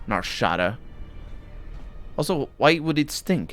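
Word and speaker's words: Nar Shaddaa: than the rest of narshad my god you guys need to learn how to pronounce this place narshada also why would it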